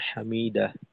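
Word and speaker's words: حَمِدَه: তারপর রুকুর থেকে ওঠার সময় সামি আল্লাহু লিমান হামিদাহ। তো এখানে অনেক সময় দেখা যায় যে আমরা হামিদা বলে শেষ করি, হামিদা, শেষের হাটা উচ্চারিত হয় না, উচ্চারণ আসে না।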